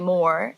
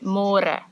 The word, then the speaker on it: môre: It's a little bit easier, but you have to remember to read môre, because in English it's spelled like more. So don't say more, say môre.